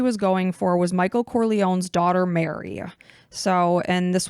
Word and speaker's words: Corleone: but one of the main characters is Michael Corleone and I'm I'm hoping I'm saying that properly